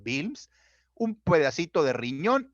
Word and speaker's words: Wilms: Produce grandes masas dolorosas, se llama tumor de Wilms, se escribe Wilms, pero se pronuncia Wilms, un pedacito de riñón y la mayor parte era tumor.